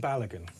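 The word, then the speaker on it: Balogun: I'm going to mispronounce his name Balagan.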